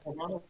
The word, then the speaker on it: Carvanha: See, I think Carvanha, like I'm thinking it's piranha.